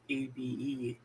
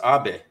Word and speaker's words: Abe: But President Abe, and then Japan, Prime Minister Abe, A-B-E, pronounced Abe. Abe. Yeah. Okay, what's Abe? Abe, but pronounced Japanese.